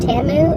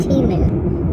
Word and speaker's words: Temu: It's I got through that, I've heard it pronounced Tamu and Temu, T-E-M-U. Who knows what's the real one, what's the correct one.